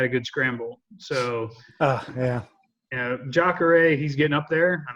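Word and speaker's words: Jacaré: Jacare, yeah.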